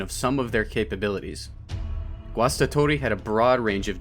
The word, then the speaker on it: Guastatori: Let's start with the pronunciation, Guastatori. Say it a few times out loud, it's easier than it looks.